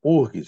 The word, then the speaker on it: UFRGS: Eu morei lá em Porto Alegre, fui, né, professor pesquisador da IPH, Instituto de Pesquisas Hidráulicas da URGS. Eles falam URGS, não pronunciam o F.